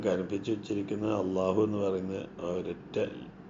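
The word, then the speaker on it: الله: പറയുക ലില്ലാഹി ഇവിടെ ലാം ലാം ജലാലയെ കനപ്പിച്ച് അള്ളാ എന്നുള്ള ഉച്ചാരണം ഉച്ചരിക്കുക അപ്പൊ ലാം നാവ് പല്ലിന്റെ തൊട്ടുപുറകിൽ പാലറ്റിൽ തട്ടുന്ന അതേ പൊസിഷനിൽ തന്നെ ആയിരിക്കണം അള്ളാഹ എന്ന് പറയാൻ ശ്രമിക്കേണ്ടത് അത് പല്ലിൽ തട്ടരുത് പല്ലിന്റെ തൊട്ടുപുറകിൽ തട്ടുക എന്നുള്ളതാണ് നമ്മൾ ശ്രദ്ധിക്കേണ്ടത് കുറച്ചു പ്രയാസമാണ്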